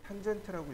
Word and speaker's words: TAN: 그 다음 TAN 라디어스라고 되어 있는데 이 TAN을 탄젠트라고 읽으시면 됩니다. 탄젠트, 라디어스 또는 TTR 이렇게 읽으시면 돼요.